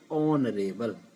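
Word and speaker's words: honourable: Sound है यहाँ पर वो क्या है, एच साउंड यहाँ पर नहीं बोला जाता है। इसका जो जिसको हम कह सकते हैं छुपा हुआ रहता है, एच को हम नहीं बोलते हैं। इसका जो उच्चारण होता है वो होता है ऑनरेबल, यानी कि आ जहाँ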